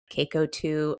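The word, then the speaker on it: Caco-2: its protection against cytokine-induced intestinal barrier disruption of CACO2 monolayers.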